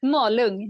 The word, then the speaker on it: Malung: Well, let's go back to where it all began in 1981 in Malung, Sweden. Did I pronounce that correctly? Malung, yeah.